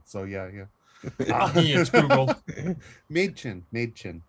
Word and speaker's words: Mädchen: Mädchen, not my chin.